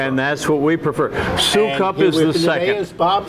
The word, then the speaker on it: Soukup: Prague Czechoslovakia and that they changed it to so cup they dropped the immigration dropped the first you and became so cup and that's what you prefer and that's what we prefer so cup is the second as Bob so cup and